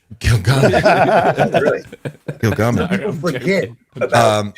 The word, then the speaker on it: Gilgamesh: And it's pronounced Gilgamesh. Gilgamesh.